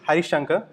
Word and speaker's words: Harisankar: talk of the day so my name is hi shankha for those who it's hard for you guys to pronounce it's I'm also known as Harris because